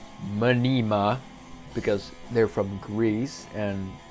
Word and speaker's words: Mnima: know who and what Minima is manima is pronounced manima because they're from Greece and it's spelled out